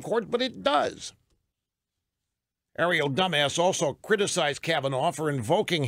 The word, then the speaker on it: Dumas: I was told that correct pronunciation of Stephen Colbert's writer's last name is Dumbass. Ariel Dumbass, not Dumas.